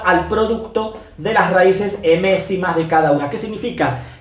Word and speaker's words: m-ésima: La primera de las propiedades tenemos que la raíz emésima, esto es una m, la raíz emésima se lee así, emésima, se escribe m-ésima, con S y acento en la E, ¿sí?